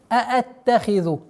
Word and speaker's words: أَأَتَّخِذُ: Будьте добры, обращайте внимание. أَأَتَّخِذُ. Четкое произношение двух звуков хамза.